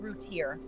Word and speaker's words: Routier: So prosecutors charged that she was, it's pronounced Routier. Prosecutors charged that Routier was taking diet pills and was upset with her children because she couldn't lose weight after having their 3rd child.